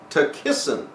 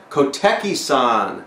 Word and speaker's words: Koteki-san: Takissan. No, Koteki-san. Koteki-san. That's how that's pronounced. Koteki-san.